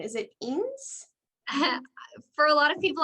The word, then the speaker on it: Enos: last name is it ins for a lot of people i just say enos um it is portuguese so it's pronounced but enos is fine all right so jessica